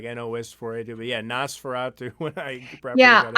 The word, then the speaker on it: NOS4A2: Nosferatu. But I thought it was like a code name or something at first, like NOS4A2. But yeah, Nosferatu when I properly Yeah, got I into mean, it.